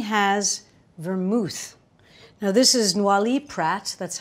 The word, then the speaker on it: Noilly Prat: Now, this is Noilly Prat, that's how you say it.